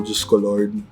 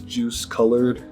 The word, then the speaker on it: Diyos ko: I just feel like this is an alternate way to spell Diyos ko Lord. But you wouldn't pronounce it as juice colored. It's Diyos ko Lord.